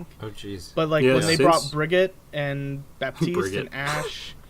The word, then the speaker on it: Brigitte: When you said Brigitte, did you mean Brigitte or did you mean Bridget? No, I thought it was Brigitte, Bridget. right? No, it's BRI. What is it? What is It's pronounced Brigitte.